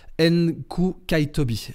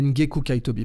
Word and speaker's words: Ngcukaitobi: du de maître tembeka NK kaitobi NK kaitobi euh euh ngeku kaitobi pardon on va le prononcer comme ça tembeka ngeku kaitobi euh